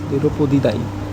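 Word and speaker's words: Pteropodidae: তো এদের যে ক্যাটাগরি, এরা হচ্ছে কোন ক্যাটাগরি, এরা হচ্ছে তেরোপদিদায়ী, এদের ক্যাটাগরিটা সেটা হচ্ছে তেরো, দ্যাট ইজ PTE, তেরোপদিদায়ী, পিটা আছে, পিটা এখানে সাইলেন্ট হয়ে আছে।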